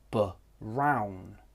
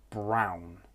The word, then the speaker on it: brown: Maybe you'll hear bound. Brown. This is not correct. Brown is how the word should be pronounced.